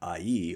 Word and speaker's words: Ai: But when Israel is unfaithful, as they are in the run-up to the Battle of Ai, or Ai, as we sometimes pronounce it, they're going to have problems, but they will indeed relent, and God will lead them through.